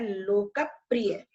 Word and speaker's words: लोकप्रिय: है, लोकप्रिय नहीं, लोकप्रिय, क्योंकि ये संयुक्त व्यंजन है, इसमें प और र दो व्यंजन जुड़े हुए हैं, इसलिए इसका उच्चारण करते समय इस पे स्ट्रेस देंगे, इसका द्वित्व करके पढ़ेंगे, इसे डबल करके पढ़ेंगे, लोकप्रिय वचनद्वयम।